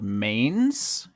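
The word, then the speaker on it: manes: the abyss they are a thing called mains spelled like the horse feature oh I was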